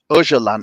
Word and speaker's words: Öcalan: Öcalan. It's spelled Ocalan.